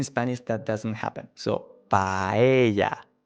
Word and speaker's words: paella: So, paella, paella. Also, avoid dragging out the A at the end of the word. So, paella.